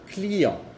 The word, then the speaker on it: client: Por ejemplo, client. Client. Es el mismo sonido que la AN y la AM.